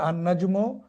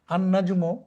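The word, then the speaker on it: النَّجْمُ: যেমন দেখুন এখানে উদাহরণ দেওয়া হয়েছে আনাজমু বাইদুন তারকাটি দূরে। আনাজমু এখানে আলিফ লাম এসেছে। আলিফ লামসে লামটি কিন্তু উচ্চারণ হয়নি। না হয়ে পরবর্তী অক্ষর নুন হয়েছে তাজদিদ।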